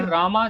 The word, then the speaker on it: राम: संस्कृत में राम को रामा लिखा जाता है और पढ़ा भी रामा जाता है। इसीलिए जब इसे इंग्लिश में लिखोगे तो रामा लिखा जाएगा। And this is the right and formal way to pronounce it. Simple राम बोलना इनफॉर्मल हो जाता है।